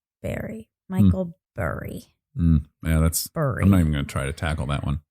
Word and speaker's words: Burry: Well, it's spelled Burry, but as I remember it being pronounced, it was Berry.